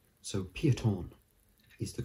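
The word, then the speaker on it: Peyton: a different one so a lot of people pronounce it payton but it's actually wrong it's pieton because it's like a kind of one of those french belgian names pieton so piaton is the correct way you pronounce it piaton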